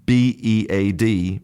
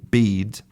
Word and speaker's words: bead: So, if I make the pair of b e a d bead and b e a t beat, you'll notice that there's a big difference in the length of that phoneme. So, I'll say bead beat bead beat.